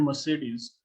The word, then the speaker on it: Mercedes: So this, and even let's say in the word Mercedes, every E has a different pronunciation in an American accent at least. So the first one is the second is A, and the third is E.